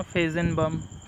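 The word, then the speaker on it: Feigenbaum: ये थोड़ा प्रोनाउंसिएशन देख लेना, फेजेनबम।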